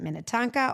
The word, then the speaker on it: Minnetonka: Paul, Grand Victoria, as well as in Minnitanka. Mina. Yeah. Why do you say it like that? I'm just saying Minnetonka.